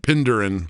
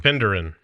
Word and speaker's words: Penderin: Well, you're going to have to let us know how how bad uh Heath or we all butchered butchered Pinderin. Penderin.